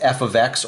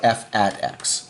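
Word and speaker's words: f(x): This is pronounced as f of x or f at x, okay?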